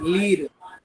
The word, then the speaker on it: lire: अब नेक्स्ट एक वर्ब मैं दे रहा हूं, ये स्पेलिंग लिखो, LIRE, लीर।